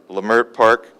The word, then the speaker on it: Leimert Park: communities of Leimert Park today I pronounced that right lemare Park Jefferson Park Arlington Heights